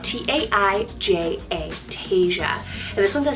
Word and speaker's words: Taija: Number 8 on the list is Taija, spelled T-A-I-J-A, Taija.